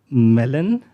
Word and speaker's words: MELON: this whole approach as melon you you don't have to stress on the first M um melon stands for